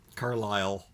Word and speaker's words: Carlisle: you to be the one to do it carlisle carlisle oh there there we go we're getting